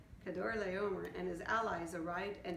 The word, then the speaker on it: Kedorlaomer: 1 year later, Kedorlaomer, there you go, that's how you say it, Kedorlaomer and his allies arrived